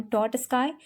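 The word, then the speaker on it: Trotsky: किया जाता है अंडर लियोन टॉटस्काई.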